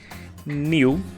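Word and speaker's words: knew: New o passado sim é a mesma pronúncia do adjetivo New de uma coisa nova ou novo é exatamente a mesma pronúncia esse k no início das palavras a gente nunca pronuncia ele então to know no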